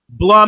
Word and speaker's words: Blum: Blum Animal Hospital. I just wanted to make sure it wasn't a hard U like Bloom Animal.